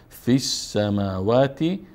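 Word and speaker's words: في السماوات: فی السماوات فی السماوات اینجا الف و لام نطق نمیشه فی السماوات وی الارض وی الارض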